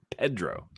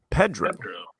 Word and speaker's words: Pedro: I heard him read his own name out loud, and he pronounced his own name as Pedro. Pedro.